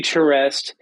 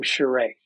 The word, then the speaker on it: Charest: It used to be Charest, and then when he started at Wildstorm, he discovered his French Canadian roots, and it became Charest.